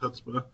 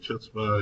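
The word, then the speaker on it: chutzpah: it's Hutzba supported and that is pronounced Hutzba. For a while, I was pronouncing it chutza and named when I heard it pronounced a different way.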